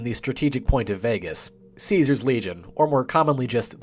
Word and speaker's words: Caesar: the ruthless man himself, Caesar, or Kaisar if you want to be really specific and pedantic. The legionnaires pronounce it Kaisar. Everyone else just calls him Caesar.